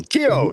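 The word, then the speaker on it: Tío: How do you pronounce that? Good morning, Jefferson. Tio Tio Tio Chuck Espano for uncle.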